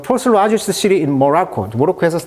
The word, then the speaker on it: Morocco: 우리 발음이 이제 모로코인데 영어식 발음은 강세가 이음절에 있습니다. 모로코. 자, people in Marrakech, 아까 마라케스라는 고대 도시에서, 그리고 across 전국이죠.